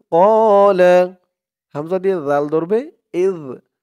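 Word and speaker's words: إِذْ: তারপরে ইয ক্বালা ইব্রাহিমু ইয ক্বালা হামজা দিয়ে জাল ধরবে ইয ইয জালের উচ্চারণটা কিন্তু একদম নরম পাতলা করতে হবে।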